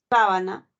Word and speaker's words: sábana: tiene tres tres sílabas se pueden pronunciar de dos maneras no sábana el acento está en la primera sílaba solana está en la